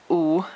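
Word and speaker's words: 五: W-U in Roma Pinyin, and that is a third tone. So U is, so I'll just put a pronunciation here. It's the sound of U in English. So 2 O's together.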